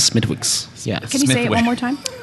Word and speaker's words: Smithwick's: America couldn't pronounce mythix there's a W in it and the w is silent for sure miss miss can I get a pint of Smithwick's Smithwick's is water it's